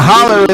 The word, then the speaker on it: holler: And a holler is a ravine in the south. Yeah, holler. Holler Yeah. is how you say it.